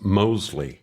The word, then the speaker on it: Mosley: That's Mosley. Oh, yes. With a silent T. No, like I told you last time, there is no T, silent or otherwise. It's just Mosley.